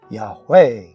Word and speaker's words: Yahweh: E, I, O, U, almost everyone would pronounce this correctly. Yahweh.